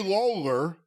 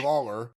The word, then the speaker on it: Lowler: And the photos here, Gary Lawler, it's spelled Lowler, but that's Gary Lawler, dressed like Jerry Lawler with the little beard and the entire look.